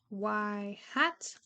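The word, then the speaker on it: ŷ: is the slope and this is pronounced as y hat or as predicted y um and then yeah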